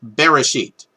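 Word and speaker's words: בראשית: is the word that in modernity is customarily pronounced as bereshit and many bible scholars actually think that that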